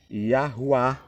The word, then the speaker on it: Yahuwá: Yahuwá significa eu sou o que sou e o que serei.